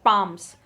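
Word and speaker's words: palms: ये एक टाइप का ट्री है, date पाम्स आर, L silent है, date पाम्स आर a characteristic features of oasis.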